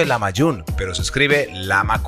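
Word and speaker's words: lahmacun: para hacer un platillo llamado la mayor se pronuncia en la mayor pero se escribe la amac un esta es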